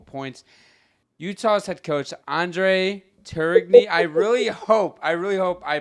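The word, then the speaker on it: Tourigny: Utah's head coach, Andre Turigny. I really hope I pronounced that right.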